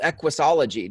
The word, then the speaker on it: Equusology: What I want to know, Carolyn, from you is you actually wrote a book called Equusology. Did I say it right?